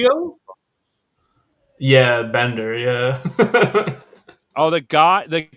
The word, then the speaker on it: DiMaggio: Now John that you say, DiMaggio.